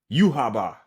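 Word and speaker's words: Yhwach: this sorry y'all but uaba uaba okay cool that yeah actually yeah that's that's literally how they say it in the show uaba has now um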